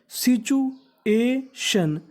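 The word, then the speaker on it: situation: होगी इस मीनिंग के आखरी में लिखा है टी आई ओ एन टी आई ओ एन हमारा कोड है अगर आपको इंग्लिश में कहीं पर टी आई ओ एन लिखा मिले तो आपको उसका उच्चारण करना है शन क्या करना है शन तो मीनिंग बनी एस आई सी टी यू को यहां पर हमें पढ़ना है चू तो मीनिंग बनी सिचुएशन सिचुएशन सिचुएशन सिचुएशन सिचुएशन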